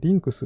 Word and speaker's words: LYNCS: 慶応義塾大学宇宙科学総合研究会 LYNCS。LYNCS と書いてリンクスって読むみたいですね。